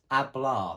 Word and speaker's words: hablar: is to talk and it's hablar the one spelled with the h but we can't hear the h okay the next one